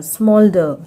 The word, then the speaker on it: smoulder: जब किसी शब्द में ओ यू के बाद एल होता है तब ओ यू का उच्चारण ओ होता है।